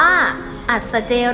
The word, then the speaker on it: อัศเจรีย์: ต่อ มา นะ คะ เครื่อง หมาย อัศเจรีย์ อ่าน ว่า อัศเจรีย์ เต็ม ที่ ใช้ เขียน